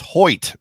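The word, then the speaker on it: Hoecht: thoughts on on Michael heck well the first one is is I apparently pronounced it wrong because Zack of all trades gives us a super a Super Chat and says it's Hoy so I saw it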